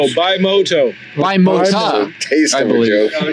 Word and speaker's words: Bimota: The R is silent, like the P in swimming. It's Bimota.